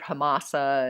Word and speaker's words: Hamsa: It says Hamsa, H-A-M-S-A. I've heard it pronounced different ways, like I've even heard Hamasa and that kind of thing, so I'm not quite sure.